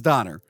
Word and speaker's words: Donner: I'm saying it right it is Donner cuz I used to say donor and got criticized but now I'm like wait is it it's Don it's dony sure it's Don uh Donner and the producers the